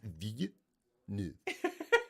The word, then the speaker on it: Villeneuve: But it's like, no, from the beginning, it's Villeneuve.